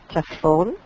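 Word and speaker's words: צפון: Si nosotros decimos la palabra norte es tzafón, pronunciado para los participantes que no están estudiando hebreo, tzafón pronunciado como así, tzafón.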